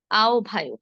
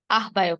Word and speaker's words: আহ্বায়ক: আহ্বায়ক আমরা অনেকে বলি আহ্বায়ক, আহ্বায়ক নয়, কি হবে? আহ্বায়ক।